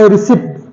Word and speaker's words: receipt: People go on the office and say, please give my receipt. No, it's not receipt. It is receipt. It is receipt, not receipt. Because here P comes in the combination of PT, so P becomes silent.